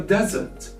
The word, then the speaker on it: desert: We don't actually stress on the S. But in this case, we stress on the S, but by using another sound, which is Z, not the S.